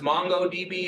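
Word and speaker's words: MongoDB: databases have um uh mongod DB sometimes pronounced mongod DB is is a really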